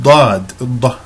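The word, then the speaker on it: ض: And Lughat al-Dad, the language of Dad, that's the dark D that you see, Da. And it is, this sound is believed to be unique to the Arabic language because it is so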